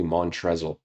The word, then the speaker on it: Montrezl: And Montrezl, which is, if you look at his name, how it's spelled, it looks like it's actually Montrezl.